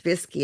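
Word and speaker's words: Višķi: My second cousin, Bruce Dumas, has done extensive research on our family, the Dumas family, in, well, it's spelled Vishki and pronounced Visky in Latvia.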